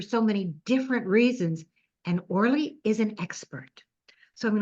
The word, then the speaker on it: Orly: to introduce I guess or did I pronounce that right orle yes you did okay and I'm going to